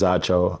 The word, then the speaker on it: Acho: My name is Acho. Acho is pronounced Nacho without the N or Macho without the M.